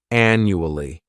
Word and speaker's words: annually: first adverb is annually this word has four syllables and the stress is on that first syllable the the second syllable it's like you're just saying that letter U and the third syllable has that chuah annually this adverb means